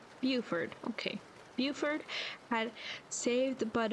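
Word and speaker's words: Beaufort: How do you pronounce Buford? Is it Buford? Buford.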